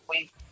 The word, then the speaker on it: Yui: Yui, or Yui, is that how it's pronounced? Yep, we.